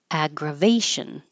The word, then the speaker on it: aggravation: be heard a accting aggravation aggravation make sure you have top teeth on bottom lip for v a source of aggravation